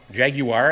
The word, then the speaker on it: Jaguar: Jaguar, as they say in Great Britain. Yeah. Jaguar. I say not Jaguar. I say it the American way. You gotta get it right. Jaguar. It's like 3 syllables.